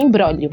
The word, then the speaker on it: imbróglio: do episódio então é uma palavra é um imbróglio brolio só tem um jeito nenhum muda então é i.a. mbr o com acento agudo né gl ó então em blog hélio mas a gente pronuncia imbróglio fui lá no cupom